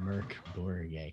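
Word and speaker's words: Mørk: grown swedish team and her name spelled mork but it's pronounced merc so and i'm like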